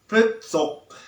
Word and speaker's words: พฤษภ: นะ มัก ที่ จะ ออก เสียง ราศี พฤษภ ออก เสียง ผิด นะ ครับ หลาย ท่าน หลาย คน นะ ออก เสียง ผิด ออก เป็น พืช สด บ้าง นะ ครับ ก็ อยาก